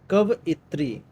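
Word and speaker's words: कवयित्री: कवइत्री। इसमें स्पेलिंग जैसे इंग्लिश में आती है इसे इसमें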